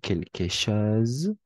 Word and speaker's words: quelque chose: quelque chose n'oublie pas au niveau de la prononciation quelque chose parce que le S entre deux voyelles en prononce comme un Z quel chose rien et